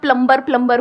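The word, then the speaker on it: plumber: सब लोग प्लम्बर बोलते हैं हमारे देश में, बढ़िया है यार, क्या दिक्कत है? बी साइलेंट है उसमें। प्लम्बर ही तो होता है।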